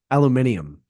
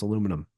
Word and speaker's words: aluminum: the flip side like when British people say uh aluminium that's not how you pronounce aluminum no I was like